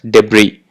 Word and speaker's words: debris: It has to be pronounced as debris.